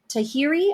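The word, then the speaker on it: Tahrir: quote un quote that women protesting in the Tahiri I believe that's how you say it square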